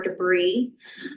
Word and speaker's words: de Bry: For us here at the museum, we have some original Theodore de Bryes, or as his current ancestors pronounce it, Theodore de Brie. Well, they say their name Brie, but they say Bry for him.